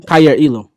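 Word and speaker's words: Kaiir Elam: Kyer Elam, cornerback, Yeah, for sure.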